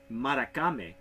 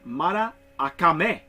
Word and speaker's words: Maracame: this name it isn't Murakami because I'm pronouncing it like it is like it is on the it is actually Mara akame so so the a you pronounced twice yes you know I've